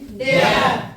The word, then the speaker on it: there: बताया ना thank U टी एच का जब आप उच्चारण करते हैं तो हमारा हल्का सा क्या करेंगे हमारा जो टंग रहता है थोड़ा सा आउट करेंगे हमारे अपर और लोअर टीथ के बीच में आता है आपका टंग है ना वेयर क्या